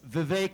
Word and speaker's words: Vivek: name is VI ramaswami it's VI rhymes with cake as some of you